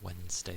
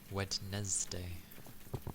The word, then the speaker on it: Wednesday: I always thought the word Wednesday is a bit weird, because it's, for the way it's spelled, it should be Wednesday, no? But we all just say Wednesday, which makes it sound like we say it as W-E-N. It is a very dirty spelling.